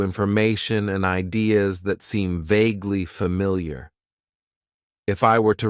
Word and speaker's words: vaguely: Then we have an adverb that I like to use, and that is vaguely. It has 2 syllables, and the stress is on that first syllable.